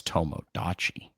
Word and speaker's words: Tomodachi: I'm interested in the game that rhymes with Tamagotchi. And that's at the very end, it's Tomodachi.